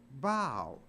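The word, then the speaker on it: bough: but it's not pronounced buff it's pronounced bow so even O A. And there the O U G H is pronounced like a long O.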